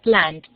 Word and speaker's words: planned: Ahora la palabra plan. Termina en N. Plan. ¿Cuál será la final? La D. Muy bien. Planned.